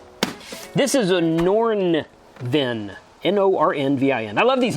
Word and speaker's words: Nornvin: this is a norn VIN n-o-r-n-v-i-n I love these names these names are awesome at least this one's pronounceable nordenvin solar generator power station with some